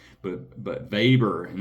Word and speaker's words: Weber: But but VBER and it's spelled Weber, right? But he's German and it's pronounced with a V.